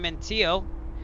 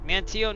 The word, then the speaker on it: Manteo: But anyways, that's where we're going to end part one from here in Mantio. Now I know how to pronounce it. Mantio, North Carolina on Rowan Oak Island.